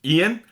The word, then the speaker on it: Ian: It's not Iron, like frick, like Ian, not Iron, like Iron. They kept calling him Iron, and every time they said Iron, it drove me nuts. It's Ian!